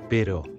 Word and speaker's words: pero: Tengo un perro, pero no tengo gato. Perro. Pero.